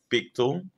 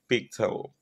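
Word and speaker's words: fictile: a year um word of the day is fictal ficto fictal fictal ficto is spelled f i c t i l in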